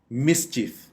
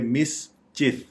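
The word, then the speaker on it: mischief: उसको कह देते हैं मिश्चीफ यह गलत है यह दो सिलेबल्स इस वर्ड्स के बनेंगे मिस चफ तो इसको प्रोनाउंस ऐसे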